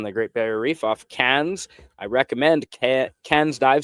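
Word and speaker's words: Cairns: Great Barrier Reef off Cans. I recommend CA cans dive center. Uh they don't pronounce the R. I know there's an R in it, but they pronounce it like tin cans.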